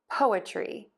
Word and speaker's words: poetry: Po, tree. Poa, tree. Poetry, poetry, poetry.